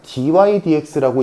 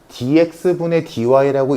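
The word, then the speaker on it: dy/dx: 자, 얘는 일단 아는 사람 알겠지만 dy dx라고 읽지 dx분의 dy라고 읽지는 않아. 물론 습관적으로 그렇게 읽었다고 해서 큰일 나는 건 아니지만 정식 명칭은 dy dx라고 읽는 게 맞아.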